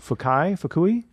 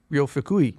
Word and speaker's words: Fukui: So this is a Japanese pianist named Ryo Fukui. I'm not sure how to pronounce his last name. Do you have that pulled up at all? Yeah, I don't know if this is correct. But Fukui. Ryo Fukui.